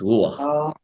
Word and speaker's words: ruach: After the letter, it gives us more like the sound of a double O, okay, like book, okay. So it's ruach, okay.